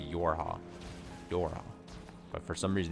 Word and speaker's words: YoRHa: It should be easy. It'd just be Yorha.